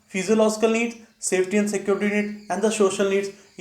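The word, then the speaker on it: physiological: कई लोग उसको साइकोलॉजिकल प्रोनाउंस करते हैं, लेकिन साइकोलॉजिकल नहीं, this known as फिजियोलॉजिकल needs.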